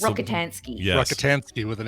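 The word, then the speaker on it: Rockatansky: It's Rokitinsky or it's pronounced different, but now you've thrown me. But it's that one. It's the- Rokitansky.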